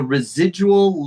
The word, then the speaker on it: residual: pendulum, The DU is like ju, ju, junintoiro, ju, residual, residual, residual. dual, Yeah, the the A really has no sound. We go from Jew to the L, residual.